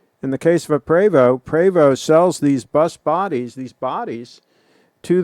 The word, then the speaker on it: Prevost: In the case of a Prevost, some people call it Prevost, it's actually pronounced Prevost. In the case of a Prevost sells these bus bodies, to the conversion companies.